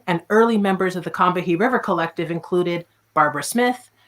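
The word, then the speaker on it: Combahee: a local South Carolina river that was actually pronounced cumbi by the indigenous people of the area the founding and early members of the combahi river Collective included Barbara Smith her sister Beverly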